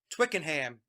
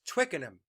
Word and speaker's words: Twickenham: british listeners said mike twickenham is twickenham we don't pronounce the h so i'm sorry about